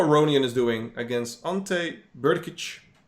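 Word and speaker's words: Brkić: is doing against ante berkich i always like pronouncing his name burkich is how you how you say it i don't have a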